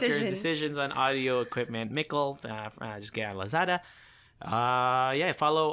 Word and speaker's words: Mickle: Mickle! Yeah, Mickle, which rhymes with... Sickle.